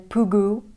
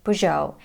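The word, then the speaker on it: Peugeot: while doing my research I heard native speakers pronounce this brand many different ways even poo goo which is not right beautto unnecessary and most of the Americans say poo show and I go with this pronunciation and remember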